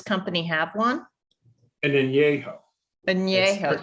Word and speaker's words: añejo: Añejo, sorry, It's I'm pronounced añejo. That's okay. añejo.